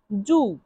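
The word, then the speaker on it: giù: এর ইতালিয়ান অর্থ হবে জু জি আই ইউ জু উচ্চারণ কি হবে? জু জি আই ইউ জু জু অর্থ নিচে।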